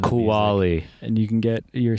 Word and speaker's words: Cualli: and like all over the pronounced kuwali and you can get